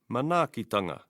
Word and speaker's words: Manaakitanga: Manaakitanga.